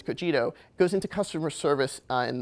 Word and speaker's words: Cogito: Cogito, this goes into, and that's how you pronounce it, it's not Cogito, it's Cogito, goes into customer service and the way the AI is really impacting customer service.